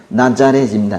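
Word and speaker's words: Ναζαρέτ: 그리고 우리는 나사렛 이렇게 하지만은 그 원래 헬라어 원 발음은 나자렛입니다.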